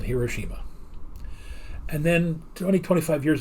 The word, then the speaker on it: Hiroshima: ago, I I heard people start pronouncing it Hiroshima. Yeah. So, I finally looked it up and said, "How would the Japanese pronounce this?" And as the turns out, the Japanese would pronounce it Hiroshima.